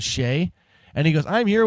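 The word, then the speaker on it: Skjei: name is s ke J that's how you pronounce Shay and he goes I'm here with what the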